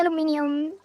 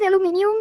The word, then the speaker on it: aluminium: I think I call it aluminium because that's the proper way to say it. But I do I do like aluminum as well. Let's go with aluminum. It's fine. proper here meaning British.